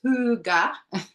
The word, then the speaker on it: Hygge: Hygge, pronounced huga, can be loosely translated to cozy contentment and relates to a subtle but perceptive ambience or quality of coziness.